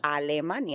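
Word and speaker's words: Alemania: Al. That's how you say it in Spanish. Almana, that's the only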